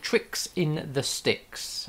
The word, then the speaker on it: Trix in the Stix: for children entertainers and it's called tricks in the sticks and it's spelt t-r-i-x